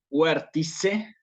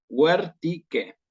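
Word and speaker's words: vertice: ¿Cuál sería el error aquí? Decir huértice. ¿Sí? Si lo digo en clásico, sería un error decir huértice. ¿Por qué? Porque acuérdense que la C con la E la pronuncio como una K. Huértique. ¿Sí?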